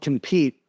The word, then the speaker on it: Kompyte: So, like as an example, there is a tool called Compete. It's spelled with a K, Kompyte, and it tracks all your competitor stuff.